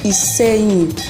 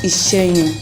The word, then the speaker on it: Iseyin: So guys, you've known now that I'm from Iseyin, and please, it is pronounced as Iseyin, not Iseyin. Thank you. Notice, don't use British accent to pronounce it.